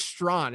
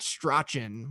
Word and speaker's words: Strawn: It is Strawn. It's not Strachan, which it sort of looks like.